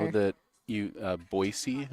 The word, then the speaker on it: Boise: know that you uh boisey is how it's pronounced not Boise that's how they'll tell you're not from boisey as if you say Boise okay I I learned